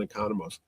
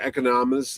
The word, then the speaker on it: Economos: But he was in the Suicide Squad playing the same character, John Economos. We'll have to find out the correct pronunciation of that name because I've heard it said twice differently on the Economos.